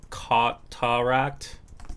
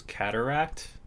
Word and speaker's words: cataract: Uh cotaract. How do you pronounce this? Cataract.